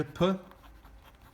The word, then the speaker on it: peux: It's je peux, tu peux, il, elle, on peut. Look at the spelling. They're pronounced the same, but the spelling is different.